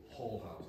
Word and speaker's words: hall house: I'm going to say the word, I'll spell it out, H-A-L-L, Hall House. And why I do that? Especially American students, a couple of times I've said it's a Norman whorehouse, and they thought I said a Norman whorehouse.